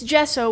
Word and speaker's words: gesso: very cute kay said it's gesso with a soft G gesso so sandy said Wow